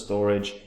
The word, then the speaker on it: Storj: a decent long-term uptrend now storage pronounced as storage is an open source